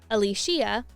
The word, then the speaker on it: Alicia: It's not Alicia or Alicia, it's Alicia. Yep, apparently we've been saying it wrong this whole time.